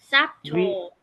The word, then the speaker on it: subtle: Subtle. We cancel out B. Subtle. B. Yeah. Cancel B. No B. You do not pronounce B. It's subtle.